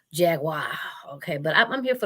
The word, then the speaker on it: Jaguar: like how that sound Jack Wire okay it's not wire it's a Jaguar okay but I'm here